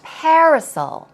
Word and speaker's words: parasol: And what about parasol? Here we go. Pronunciation, parasol. As you see, sol, S-A-W-L sound, so drop your jaw.